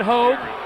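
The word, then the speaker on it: Haug: It's spelled H-A-U-G, but that's Hogue as well.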